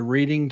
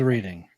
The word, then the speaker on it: Reading: How do you spell read, and then how do you spell red?